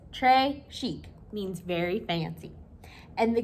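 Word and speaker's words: très chic: a bracelet tray chic you say it like this trey chic means very fancy and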